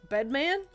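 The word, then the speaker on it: Bedman?: This is Bedman, and I say it like that because the name comes with a question mark at the end.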